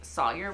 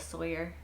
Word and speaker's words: Sawyer: I don't know why I say sawer um maybe it's a southern thing maybe it's a me being bad at pronouncing names thing but I just say sawer instead of Sawyer like Sawyer is weird to say to me I don't know anyway